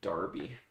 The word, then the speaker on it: Derby: kind of that calculator the British pronounce it Darby that's a name there's no a in it Darby it takes me it